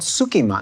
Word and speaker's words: tsukemen: I think what we ordered is called sukiman. It's pronounced skemen.